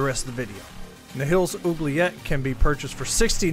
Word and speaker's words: Oubliette: Today, I wanted to talk to y'all about Nihil's Oubliette, I believe is how you pronounce it, and his key to enter the Oubliette as well.